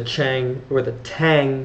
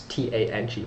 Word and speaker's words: Tang: write this down, it's T-A-N-G, but it's Tang, I believe, is the proper pronunciation, dynasty.